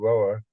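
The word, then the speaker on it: Rohwer: other at Jerome and rower that's what they told me is the correct pronunciation that's sort of almost like one syllable and the the national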